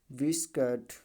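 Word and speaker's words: biscuit: किसी भी वर्ड में यू के बाद कोई वावेल्स अक्षर आया हो तो यू हमेशा क्या होता है? साइलेंट होता है। तो हमने बताया यू के बाद वावेल आया, गाइड, गिटार, गिल्ड, ठीक है, बिस्कट।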